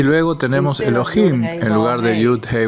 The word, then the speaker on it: Elohim: Por lo tanto, por tradición, cuando se escribe Yud Hei Wav Hei al lado de Adonai, se pronuncia como Elohim, para evitar repetir este título dos veces.